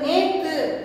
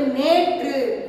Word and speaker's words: நேற்று: பாருங்க, கொச்சை சொற்கள் நேத்து அப்படின்னு கொடுத்துருக்காங்க. அதுக்கு செந்தமிழ் சொற்களை நேற்று, அதுதான் சரியான பொருள். இப்போ நேற்று அப்படின்னு நம்ம இயல்பாக சொல்லுவோம், நேற்று மழை பெய்தது அப்படின்னு சொல்லுவோம். ஆனால் என்ன சொல்லணும், நேற்று அப்படின்னு நம்ம சரியாக உச்சரிக்கணும், இதுதான் சரியான வடிவம்.